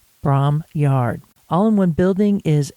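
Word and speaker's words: Bromyard: which is just south of the town of Braum Yard. That's spelled B R O M Y A R D. Braum Yard.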